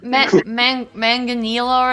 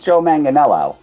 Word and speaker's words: Joe Manganiello: you know I'm sure the latest manganilla or something like that man I think it's Joe Manganiello yeah okay it's less